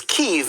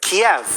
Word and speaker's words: Kyiv: Some have wondered why we're pronouncing Ukraine's capital as Kyiv instead of Kiev. That's because Kyiv is how Ukrainians say it. Kiev is how Russians say it.